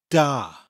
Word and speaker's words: da: the word for good is da spelt da it sounds exactly like the word you'll have heard Russian characters use in cold war movies except in Russian